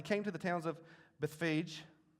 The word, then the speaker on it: Bethphage: As he came to the towns of Bethphage, and yes, that's pretty close to the pronunciation. I looked it up. I didn't want to say Bethphage in front of y'all. I thought that would be, y'all would judge me.